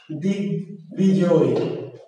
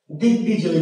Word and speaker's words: দিগ্বিজয়: যেমন দিগ্বিজয়, দিগ্বিজয়, দিগ্বিজয়, তাহলে বয়ের উচ্চারণ হয়েছে।